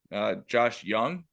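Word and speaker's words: Josh Jung: So right now the starters for the American League, Jonah Heim for Texas, Yandy Diaz from Tampa Bay, Marcus Simeon from Texas, Josh Young, is that how you say his name?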